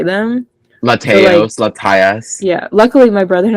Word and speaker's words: Latias: Is that canonically how you say it? Latios and Latias? Yeah. Yes.